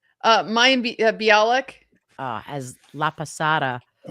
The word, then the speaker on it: Mayim Bialik: Mayim Bialik.